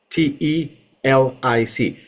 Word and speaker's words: telic: That line that separates both regions is called the telic fringe. T-E-L-I-C. Telic fringe. Okay? Telic. Entering. What? How do you spell it again?